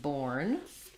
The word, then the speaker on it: born: Born, this one, letters OR do say the or sound.